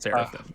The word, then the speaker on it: seraphim: Pretty a, sure it's Seraphim. hyperbole. Yeah, You just I'm right there with you with hyperbole, but it is pronounced seraphim.